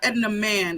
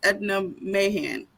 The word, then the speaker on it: Edna Mahan: Is it okay, so it's not Edna Man, it's Edna Mahan.